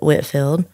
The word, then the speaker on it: Whitefield: a place nearby called, it's spelled Whitefield, but we pronounce it Whitfield.